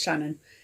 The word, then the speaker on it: Shona: And then Shona, which is pronounced Shannon, actually, so it's Shannon, is Irish, and it means wise little one.